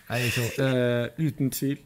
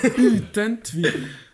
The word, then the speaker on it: Uten tvil: Uten tvil. Oh, in Norway. Uten tvil. Say it one more time. Wait, how? Uten tvil.